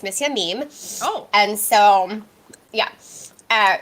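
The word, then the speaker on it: M. Mime: had an extra um everyone calls it mr mime but if you say it in french it's missy a meme oh and so yeah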